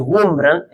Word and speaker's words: Wurmbrand: Hay un hombre que se llama Richard, creo que es Wurmbrand, se pronuncia así, que es el fundador de La Voz de los Mártires.